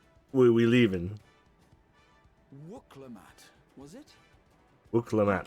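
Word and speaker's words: Wuk Lamat: Wuklamat. Claim to be of the royal That's how you family, pronounce it.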